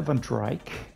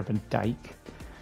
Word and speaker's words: Van Dyke: uh who is there Tyler van drike I think that seems to be a mispronunciation if I'm seeing this correctly I think it's Tyler Van Dyke um but I think